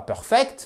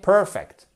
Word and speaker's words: perfect: Donc, ce n'est surtout pas perfect, mais perfect.